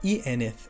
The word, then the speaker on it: ieneth: So y at the beginning, except in im or I, and I otherwise in the middle of a word. So some examples from Sindarin. Man ieneth lin.